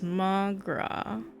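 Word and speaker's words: mo ghrá: Mogra. Irish for my love. One dialect would pronounce it as Magra.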